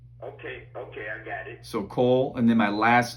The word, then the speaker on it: Kole: Okay, Mr. Kobe, right? No, just Kole, so K-O-L-E. Wait a minute. It's K-O... L-E. Okay, I got it. So Kole, and then my last name is, which is...